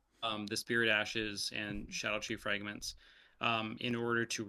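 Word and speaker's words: Scadutree: the shadow tree fragments which look like they're pronounced scadu tree um but it's actually just the same way that jail and and jail are kind of pronounced and stuff so it's Shadow tree fragments yes um but uh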